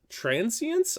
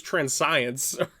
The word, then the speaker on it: Transience: We're also playing 4 Kami of Transience. I'm sorry if I butchered that. At first I thought it was Transcience, but it's definitely not.